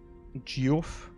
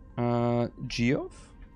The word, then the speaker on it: Geoff: Geoff. Which is pronounced Jeff, I think.